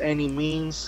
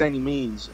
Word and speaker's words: Annimeanz: on my social media is a and it's pronounced any means because I know any a lot of necessary exactly I know a lot of people when they get the pronunciation wrong but it's any means and all you can find me on all